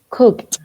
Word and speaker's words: cooked: Recuerden que cuando el verbo termina en K, ok, en ese sonido de la K, esa ED se pronuncia como una T.